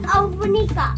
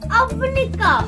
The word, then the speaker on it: অবনিকা: না my name is অবনিকা অবনিকা ইটস অবনিকা নট অব্নিকা উচ্চারণটা তো ঠিক করে